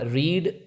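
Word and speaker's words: read: पता है रीड रीड का मतलब तक पढ़ना रीड रीड लेकिन मजे की बात यह है कि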